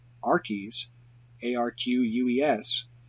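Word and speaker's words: Arques: Rennes le Chateau spelled our keys AR qu es is actually pronounced just like art then there is that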